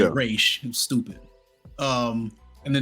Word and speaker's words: Ra's al Ghul: They pronounced it Raz Al Ghul, but it was really Raish.